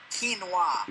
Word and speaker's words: quinoa: Quinoa. No, it's pronounced quinoa.